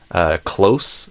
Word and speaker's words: close: Close versus close, or closely. Some Brazilians will say closely instead of closely. Close, there's like the verb, right? It would be a Z instead.